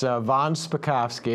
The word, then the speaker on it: von Spakovsky: how do you say your last name it's von spakovsky it's a typical name for somebody from alabama